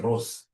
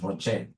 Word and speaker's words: ROCE: Whenever I see ROCE, please don't pronounce this as Rose. Rose is my sister. Rose is your mother. Professionally, we pronounce this as ROCE.